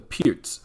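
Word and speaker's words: Pirc: d6 the pierce defense i hear a lot of players phonetically mispronounce it by calling it the perk defense but it's called the pierce defense named after the slovenian grand master vasia pierce 427 controls the e5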